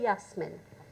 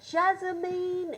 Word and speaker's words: Yasmin: How hard is it to say Yasmin? How hard? Tell me. It was Jasmine, it was everything but Yasmin.